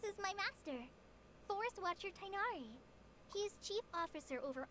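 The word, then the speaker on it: Tighnari: Oh, this is my master, Forest Watcher Tainari. He is chief officer over all the rangers here in Gandharvaville. Ah, so the G is silent, so just Tainari.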